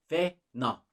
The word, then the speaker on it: fena: Fena. Fena. And it means bad. Let's talk about the pronunciation real quick.